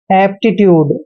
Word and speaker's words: aptitude: Next word देखिए APTITUDE। दोस्तों ए का उच्चारण हम ए करते हैं और पी का उच्चारण आधा पे करना है, टी को टे पढ़ते हैं और आई को ई की मात्रा पढ़ते हैं, यानी कि एप्टी। और टी का उच्चारण टे करेंगे, यू को यू पढ़ना है और डीई को डे पढ़ते हैं।